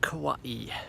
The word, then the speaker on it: Kauai: to the top I give you all of kawaii as it's pronounced correctly as I found out recently so